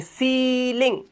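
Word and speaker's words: ceiling: आगे चलो, जब किसी वर्ड में ई आई आए तो ई आई का उच्चारण ई यानी कि लॉन्ग वाउल साउंड ई करना है, इसलिए सीलिंग, डिसीट, ठीक है, प्रोटीन, ई की आवाज, बड़ी की मात्रा ई।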